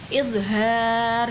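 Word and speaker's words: إظهار: Idhar, haknya panjang.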